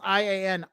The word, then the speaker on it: Ian: go down this road this gentleman pronounces i a n i in that I don't want any part of that I don't want any part of that it's pronounced Ian if anybody that pronounces it differently is wrong so I don't want